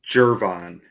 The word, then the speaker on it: Gervon: It's always the pronunciations that mess with me. I don't know. It's Gervon.